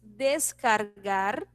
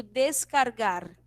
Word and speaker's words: descargar: Tenemos descargar para hacer download, né? Então, eu digo descargar. E aí a gente vê o R marcadinho na pronúncia, né? Descargar.